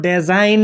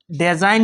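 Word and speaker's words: design: জি কেয়া জি silent হয় এই আট কেয়া সাইলেন্ট হয় এক্সাম্পল আপারে ডিজাইন এটা কি ডিজাইন ডিজাইন এটা সাব ডেজাইন নকবয় মনত রাখিব ডেজাইন নব হব ডিজাইন কারণ ইয়া আপনার দুটা ভায়েল আছে ভাওয়েল প্লাস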